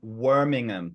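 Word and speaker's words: wormingham: worms here but he coined the term warmingham which rhymes with Birmingham so we like to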